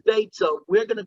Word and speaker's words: Beitzah: Now, every time it says Beitzah, we're going to call it Beya, because even though it says the word Beitzah, the way the word is supposed to be pronounced in Aramaic is Beya.